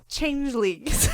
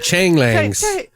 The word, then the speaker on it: changelings: Yeah, changelings. Yeah, you're like changlings. Like changelings. No, it's changelings.